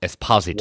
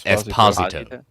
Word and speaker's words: Giancarlo Esposito: Everyone's saying Giancarlo Esposito. No, it's Esposito. Wow. It's Esposito.